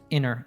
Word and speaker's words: interrupt: So in that case, we drop the T altogether. So it's inner. It almost sounds like a double N.